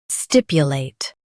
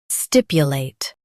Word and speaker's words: stipulate: stipulate Now read the syllables shown on the screen naturally. stip u late stipulate Stress stip and keep u soft.